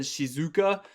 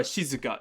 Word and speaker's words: shizuka: in the mistake uh english speakers we like to put the emphasis on the second um the second syllable so that's why he said shizuka or this is just more of a shizuka shizuka i think it's actually higher on the she sound kayla do you know